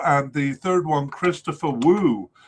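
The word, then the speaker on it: Wooh: third one Christopher Woo I heard his name was pronounced wo by at least one commentator in the last cup. Um, but I'm going to stick with Woo because uh I think that's right, but uh I'm not dead.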